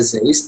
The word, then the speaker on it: Zeiss: Tadi benar yang dikatakan ada Zeiss itu tulisannya Zeiss tapi bacanya Zeiss.